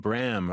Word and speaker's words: Bram: Group Sharon Lois and Bram rhymes with ham the 2025 Juno award